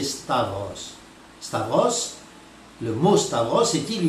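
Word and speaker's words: σταυρός: Alors, ils prononcent mal d'ailleurs la plupart du temps, ils prononcent stauros, mais en grec, sachez que la bonne prononciation, c'est stavros.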